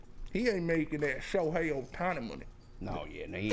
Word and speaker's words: Ohtani: O'Shine? How you say it again? The baseball player, damn. Ohtani. Ohtani.